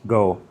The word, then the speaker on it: Koh: So it's go Samu. Someone corrected me on the u how it might have been pronounced. The K is pronounced more like a G. So instead of CO for island, it's go.